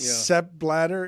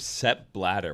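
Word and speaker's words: Sepp Blatter: its own superhero SE bladder former FIFA president sep bladder is the joke you made even though a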